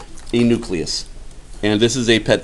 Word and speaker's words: nucleus: say it another way fortunately it is also pronounced exactly the way it is spelled knew CLE us not nucleus no there's only one you in there it is nucleus nucleus words related to nucleus